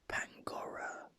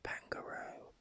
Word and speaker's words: Pangoro: I used to always pronounce it Pangora instead of Pangoro.